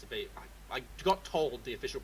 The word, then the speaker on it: Vive: No, it's Vive. It's a Vive. I got told the official pronunciation recently.